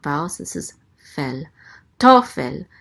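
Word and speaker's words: תֹּפֶל: Tofel. The accent mark is right here under the tav. So it's tofel. The accent is on the first syllable.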